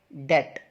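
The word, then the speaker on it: debt: इस वर्ड की सही प्रोनाउंसिएशन है डेट।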